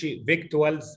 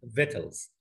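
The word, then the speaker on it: victuals: يعني إحنا ما بنقولش فيكتوالز، ما فيش حد بيقول فيكتوالز أو فيكشوالز. لا، هي الكلمة دي بتتنطق فيتلز. النطق الصحيح للكلمة ديت كلمة فيتلز، وهي معناها فود أند درينك.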